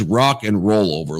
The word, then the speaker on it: Rock and Roll Over: It's not an N, bro. It's an and. Rock and roll over. Yeah, Rock exactly. and roll over. But he punches the end roll over.